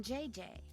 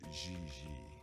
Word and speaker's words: Gigi: ling no i mean jj gg gg jj on francais you pronounce g like j and j like g she may very well be jj in america but in france she is gigi has she done modeling